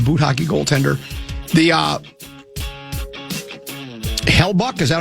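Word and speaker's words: Hellebuyck: The uh Hellbuck, is that how you say his name? Hellbuck.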